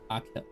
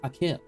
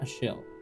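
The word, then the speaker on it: Achill: Pronounced Akil. Oh, it's Akil. It's Akil, not a shill.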